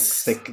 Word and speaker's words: Sikh: See, as someone Indian, I can confirm it's pronounced sick, like sick, the illness.